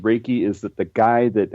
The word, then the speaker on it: Reiki: It's actually pronounced Reiki.